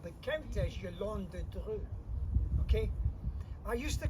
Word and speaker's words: Yolande de Dreux: He marries a beautiful young French lass called the Countess Yolande de Dreux. Okay? I used to call her the Countess Yolande of Dreux, but that's just how it's spelled, not how you're supposed to pronounce it,